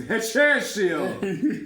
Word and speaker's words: Hechicero: Hechicero. Hechicero. You gave him the Italian accent. It's Hechicero.